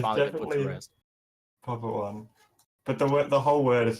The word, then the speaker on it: Poppt1: Is the one pronounced in the tag ever? Has it ever been pronounced in the tag? People don't just because it's lazy, and then I started to not because I got lazy, but it's definitely is in the name. Okay. Definitely should be pronounced, preferably.